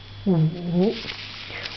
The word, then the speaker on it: 舞: In Chinese, is wu. I am writing in the standard model way of writing. Wu. Wu. This is dance and pronunciation is wu. Wu. The third tone.